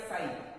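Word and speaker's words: psi: Sign बच्चों इसको TSI इससे लिखा जाता है, इसमें T साइलेंट होता है, इसको साई बोलते हैं।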